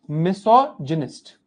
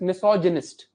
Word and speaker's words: misogynist: someone who hates humans is a misanthrop gist misog gist this pronunciation is gist but correct pronunciation is misogynist Gynecology Gynecology Gynecology is a branch of medicine